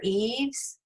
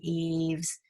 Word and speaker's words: eaves: just talk about it here's a word eaves there's two reasons it should be long e which it turns out to be a long e we have two vowels go walking the first one that's talking the second one says his name and then we also have a silent e at the end there's every reason this should be eaves and so it is here's human and that